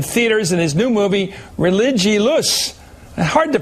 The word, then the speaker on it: Religulous: It's Religulous. It's like you're saying religion and then you go to ridiculous.